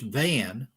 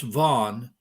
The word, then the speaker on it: Van: South of Mount Ararat is a lake called Lake, we would pronounce it in English Van, but it's pronounced Van in Turkish.